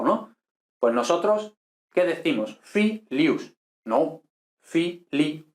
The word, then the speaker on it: filius: Filius, ¿no? Filius. U no es diptongo latino, por tanto, si no es diptongo, es iato, son dos sílabas separas. Por tanto, fiilius, no filius, no, eso no.